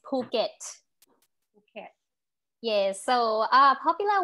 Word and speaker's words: Phuket: called phuket okay and this is not uh phuket even though it's spelled with ph so ph in thailand is actually meant for you to pronounce uh okay with more air so it's phuket okay yes so uh